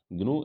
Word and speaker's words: GNU: तो पहला तो GNU को हम GNU नहीं पढ़ेंगे, इसे ग्नू पढ़ेंगे।